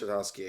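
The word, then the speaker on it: Tartakovsky: But I know like the Samurai, like if you don't know who I believe it is pronounced Tartovsky.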